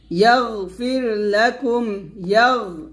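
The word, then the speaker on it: يَغْفِرْ: তারপর ইয়াগফির লাকুম, ইয়া গঞ্জবর এখানে ইয়াগ, এটা বলবেন না, বলবেন ইয়াগ, এরকম। এখানে গয়নটা কলকলা করা যাবে না, তবে গয়ন মোটা করবেন।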